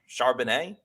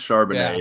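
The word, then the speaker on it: Charbonnet: UCLA running back Zach am I pronouncing his name right uh Chardonnay I believe it's charbonne it reminds me yeah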